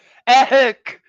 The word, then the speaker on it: Eck: Eck which I love how they tell us how to say it so Eck egg apparently I don't say it like that the life force the